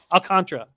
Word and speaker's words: Alcantara: i can always say i was pronouncing his name wrong for so long and now alcantara that's right right alcantara five innings three